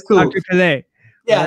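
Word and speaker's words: Pelè: Pele. Oh, I mispronounced it. No, I saw the accent and I messed it up. Yeah, it's cool. Dr. Pele.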